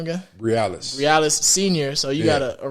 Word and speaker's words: Briales: do you say your last name again realest realest senior so you got a royce realest junior